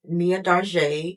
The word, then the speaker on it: Mia Darj'de: Um, so you can follow me at Mia Dar. That's how you pronounce my name.